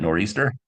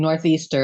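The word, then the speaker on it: nor'easter: If you're saying northeaster, everybody knows. Oh, noraster. Yeah. I don't know. Well, anybody who pronounces a th is lost to begin with.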